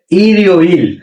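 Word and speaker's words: 일요일: কেসে ইরিওইল। হ্যাঁ, ইরিওইল। কি ইরিওইল কিভাবে হয়েছে?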